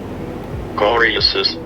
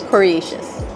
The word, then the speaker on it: coriaceus: So, how to pronounce Coriaceous? Let's go see. Coriaceous, Coriaceous, Coriaceous.